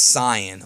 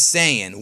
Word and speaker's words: Saiyan: is that I was pronouncing the word Saiyan as Cyan, okay? Now, I did a whole video about it, and ever since then, I got attacked ruthlessly in the comment section because I say Cyan, but the dub says Saiyan.